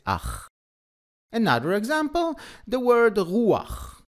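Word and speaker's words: רוח: Another example, the word ruach. It's written resh, vav, chet. But we don't say rucha, we say ruach, just like with tapuach.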